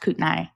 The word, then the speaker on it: Kootenai: So the county is called Kootenai, but it's pronounced Kootenai.